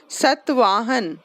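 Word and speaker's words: सातवाहन: सतवाहन, सात वाहन से सतवाहन है, सतवाहन। पढ़ो। हम्म हम्म हम्म Iran, Egypt, Burma, Malaya, Malaya. Okay, etcetera पे ब्रैकेट, एक मिनट, एक्सेट्रा पे ब्रैकेट क्लोज करो और द सतवाहन पैरा के स्टार्ट में स्टार्ट करो, ठीक है।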